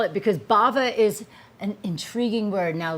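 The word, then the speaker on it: Bhava: Baba Beauty and wellness b-h-a-v-a I had to spell it because Bava is an intriguing word now let's find out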